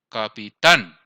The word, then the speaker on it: capitán: Capitán. ¿Cuál sería la sílaba tónica? Tan. Esa es la que estamos haciendo la mayor fuerza.